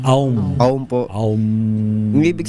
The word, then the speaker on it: Aum: Ang OM po kasi sa original po talaga niyan is AUM. Oo nga, AUM. Actually, ang bigkas dyan na AUM.